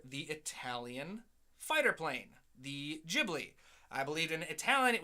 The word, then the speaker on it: Ghibli: I pointed out no if there's an H after the G it's a hard G it's pronounced Ghibli and